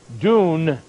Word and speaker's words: dun: a man the word strive is the word dune d-u-n pronounced uh with the long u the d-u-m